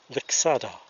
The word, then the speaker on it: Lixada: begin assembling the stove the correct pronunciation for the stove is Vic solder and the only costs